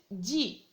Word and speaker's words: dit: lettre s tu dis la même chose il dit on à la lettre t à la fin